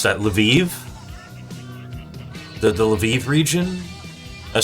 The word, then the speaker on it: Lviv: There was this guy who came to the zone from the from the Leviv. How do you pronounce that? Lviv the the Lviv region.